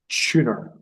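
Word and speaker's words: Tønder: Festival in Denmark now the festival's called tuner and it's spelled t o n d r and it was just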